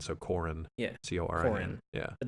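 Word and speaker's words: Coran: Like it Yeah, no, it definitely they pronounce it like Quran. It's Quran. spelled like coral, but with an N, so Corin.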